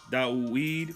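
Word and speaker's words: דוד: more a and Hebrew my name is pronounced da weed a shame my wife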